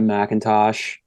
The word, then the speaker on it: McIntosh: from Palo Alto yeah Macintosh I think it's a four-year guy there's no a in there it's m-c-i-n-t-o-s I think it's still pronounced um who's been